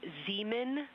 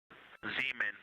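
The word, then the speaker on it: Zeman: We believe that that is Zemen Crater. Zemen. Okay. And can you say the first letter? I may be pronouncing that wrong.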